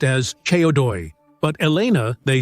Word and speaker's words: CO2: In Romanian, this abbreviation is pronounced as Ceodoi, but Elena, they say, says Codoi, which in Romanian means big tail.